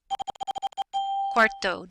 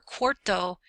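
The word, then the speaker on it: cuarto: primary Segundo second Tero quto don't get that confused with quatro can you hear the quatro is four quto sounds like quarter or fourth Kinto SEO septimo octavo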